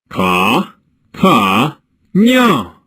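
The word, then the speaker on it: Cataño: "Now," he said to the parrot, "repeat after me. Ka, ta, nyo."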